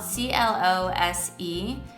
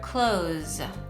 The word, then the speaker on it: close: to each other but this s can also be pronounced like a z and in that case you pronounce the word close close and a few